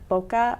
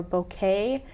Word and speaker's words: bokeh: going to be, and it's called bokeh or bouquet. Okay. There's a couple different pronunciations on it.